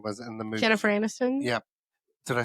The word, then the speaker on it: Jennifer Aniston: There was speaking of that, there was a clip that I watched that was Jennifer Anderson was in the movie. Jennifer Aniston?